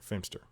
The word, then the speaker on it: Feimster: had Paul Shear Alana Glazer and Fortune Feer fster it's spelled feimster those are the people I more